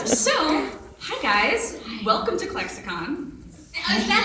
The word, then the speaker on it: ClexaCon: Welcome to ClexaCon. Is that how you say it? Yeah. How have you been saying it? Yes, I've been saying ClexaCon.